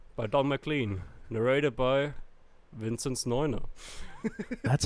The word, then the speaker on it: Vinzneuner: Narrated by Vinzneuner.